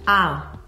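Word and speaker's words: Ahr: Ah. Ah. It's basically one long A. Ah. With a little R in the end.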